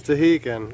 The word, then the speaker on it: Stehekin: we're in oh man i don't even know how to pronounce the name of this little town it's tahikin that's it boat's about to leave